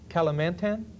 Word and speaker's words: Kalimantan: share again with our viewing audience about East Kalimantan yes that's the pronunciation yes are our wood chips we have